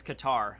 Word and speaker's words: Qatar: year for mihawk day the second way you pronounced it qatar it's qatar all right it's about 137 oh my god